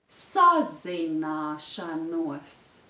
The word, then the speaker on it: sazināšanos: You can put a small stress on the syllable na.